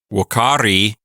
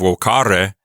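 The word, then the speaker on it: vocārī: that's a person's name wakari is the verb woko which means to call or summon it's a passive infinitive notice the long i it's not an active infinitive Ware it's w which is passive so he she or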